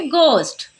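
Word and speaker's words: ghost: के पहले एच है तो एच हो जाएगा साइलेंट तो पढ़ेंगे गोस्ट ठीक है अब यहां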